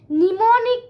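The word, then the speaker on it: mnemonic: এবার সেই যেমন ফার্স্ট জেনারেশনে 0 and 1 ইউজ হতো, তেমনি সেকেন্ড জেনারেশনে নিমোনিক কোডস ইউজ হতো। কি হতো? নিমোনিক। কোড। এবার এটা স্পেলিংটা একটু খেয়াল রাখতে হবে। এমটা সাইলেন্ট থাকে নিমোনিক কোডস।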